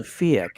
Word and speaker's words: PHEIC: representative and they declared what is called fiic and it's spelled p-h-e-i-c as you saw in